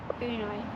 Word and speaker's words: Uno: Is it Uno or Uno? You tell me. How do you say it? Uno.